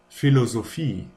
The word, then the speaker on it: Philosophie: And then there's a ph, which is just pronounced like an f. Just like in photo or Philosophie.